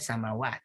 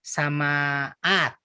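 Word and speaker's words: سماوات: Sama jadinya samawat, bukan samaat gitu. Dan secara kalau pengucapan juga lebih enak samawat takhfif.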